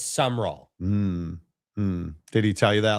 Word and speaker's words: Summerall: That should be 3 syllables, but it's just 2. Yeah, it's not Summerall, it's Summerall.